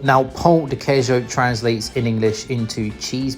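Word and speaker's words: pão de queijo: You got to be very careful how you pronounce that because if you say pa dejo to a Brazilian, they'll probably laugh at you cuz pa dejo means something very different to pjo. You should say p dejo.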